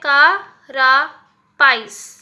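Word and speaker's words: carapace: द कैरास्पेस, ये सी, इसको कैसे प्रोनाउंसिएशन करेंगे हम, यहाँ पे मैंने लिखा है कारापाइस, ठीक है, इस तरीके से आपको इसका प्रोनाउंसिएशन होगा। और इसका क्या मीनिंग है,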